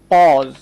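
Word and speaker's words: pause: হ্যাঁ, ঠিক তেমনি করে যদি বলা হয় পজ, পজ, আমরা বলি না ভিডিওটা একটু পজ করুন, পজ মানে হচ্ছে থামা।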